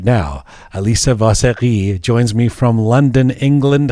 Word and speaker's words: Vaseghi: Let's say Vaseghi, so we can be Persian about it.